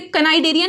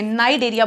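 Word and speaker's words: Cnidaria: सी हम बोलते, कनाइडेरिया नहीं बोलते इसे, नाइडेरिया बोलते हैं, सी साइलेंट है, ठीक है।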